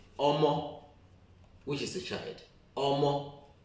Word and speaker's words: Omo: If I say Omo, everybody will just use the English part of it, the pronunciation of English, to look at it and you will get the Isoko part of it.